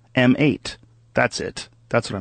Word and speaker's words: M8: How do you say it? Mate? It's not Mate. HTC One M8.